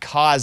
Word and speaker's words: Kevin Costner: It's not Kevin Costner. It's not Costner. Dude, what if he comes on and says it's Costner, guys? The T silent. You just said it right for the No, first I said time ever. Costner. Costner. No, you Cost- said the T. You said it. No, I didn't. It's not Cosner.